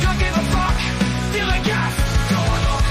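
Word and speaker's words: DILLIGAF: A word, Gilligan, that's spelled D-I-L-L-I-G-A-F, Gilligan.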